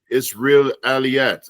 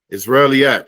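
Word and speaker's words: Isra'iliyyat: So these are stories that and some of the other stories are called the Israeliyat. I think I pronounced that wrong. Israeliyat.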